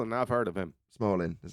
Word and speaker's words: Smolin: yeah Lee small and I've heard of him Smalling is how you say it yeah well there